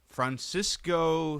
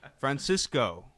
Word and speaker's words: Francisco: what's wrong with that it's name is francisco not francisco like they're pronouncing it like you know they say everything in english until they get to his name francisco alvarez is batting